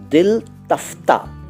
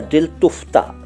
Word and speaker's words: दिल तफ्ता: अगला शब्द है दिल तफ्ता या दिल तुफ्ता। दोनों चलते हैं, दोनों उच्चारण चलते हैं, दिल तुफ्ता और दिल तफ्ता।